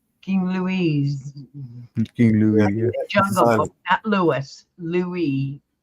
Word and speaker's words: Louis: you're right yeah King Lewis not Lewis Lewis Lou Lou yeah King Lou King Louise King Lou Louis Louie the S is silent Louie yes like camella's trying